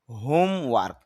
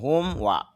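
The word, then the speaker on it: homework: নিয়মিতভাবে, উইকেন্ড ছুটির দিন, হোমওয়ার্ক র সাউন্ড হবে না, হোমওয়ার্ক বাড়ির কাজ, হোলি পবিত্র, আঙ্কল চাচা মামা খালু বা ফুফা, সব ফুফা।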